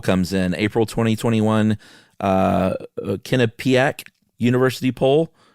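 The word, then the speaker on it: Quinnipiac: Uh, Kinnipiaak University poll. How do you pronounce that? Quinnipac. Kinnipac.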